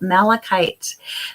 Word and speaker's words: malachite: gonna read to you a little bit about malachite malachite is a powerful stone it's spelled m-a-l-a-c-h-i-t-e i will actually put it in